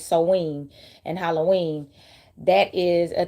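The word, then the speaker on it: Samhain: celebrate seen which it it's spelled like Sam H but it's seen and Halloween that is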